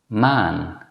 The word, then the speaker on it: maan: In fact, it's the same as the first vowel in the English word father. Now let's practice 3 example words. Man, fam, ban.